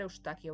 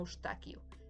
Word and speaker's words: Eustaquio: fácil de pronunciar, pero aquí en España se le llama Ustaquio, ¿vale? Porque literalmente ese es su nombre traducido al español. Él se llamaba Yustas y aquí se llama Ustaquio, ¿vale?